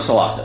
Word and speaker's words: Solasta: I think it's how you pronounce it. Yeah, we're going with Solasta.